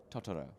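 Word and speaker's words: Totoro: Um, some people say Tortoo. Toto and I say Ttoro, but I think that's a very that's probably a very English pronunciation of it.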